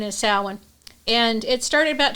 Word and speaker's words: Samhain: but it's pronounced samhain um some people call sanhane but uh the correct correct pronunciation is salwin and it started about 2 000 years ago